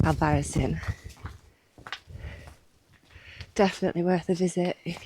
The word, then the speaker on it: Albarracín: I've just heard some Spanish people call it Albadin. So, it's pronounced Alvarisin.